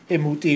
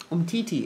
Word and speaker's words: Umtiti: If we signed Imuti, who's playing for France now, right?